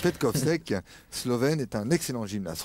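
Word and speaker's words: Petkovšek: Petkovsek. Petkovsek, Slovène, est un excellent gymnaste.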